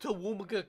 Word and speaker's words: Toowoomba: It's pronounced Toowoomba County.